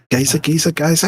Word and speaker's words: geyser: Geyser? How do you pronounce that word? Geyser. Geezer would be an old person.